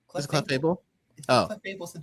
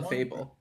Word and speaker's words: Clefable: to be the Is that how you say it? Cleables general. Clefable. Why did I say cleable?